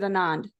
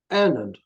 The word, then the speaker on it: Annand: Am I pronouncing that correctly, or is it Anand? Annand. Annand.